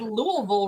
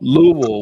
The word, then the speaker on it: Louisville: Like she was gonna bash my head in if I said Louisville wrong in my video.